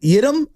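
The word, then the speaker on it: Yiadom: receiver, seeing Diamond Lenore and who was it Yidam? Yeah, Isaac Yidam played. Am I pronouncing it properly? Yep. Okay. He was on that other side. Yadam.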